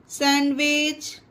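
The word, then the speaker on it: sandwich: तो आप लोग इस चीज को ध्यान रखिएगा कि जिस भी वर्ड में HWGND के बाद हो तो वहां पर डी साइलेंट रहता है, डी का उसका कोई उच्चारण नहीं होता।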